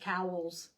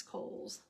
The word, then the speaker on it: Kohls: came on TV and he called it cowls I suppose it's spelled c but it's Kohls anybody around here knows it's coals we had an earthquake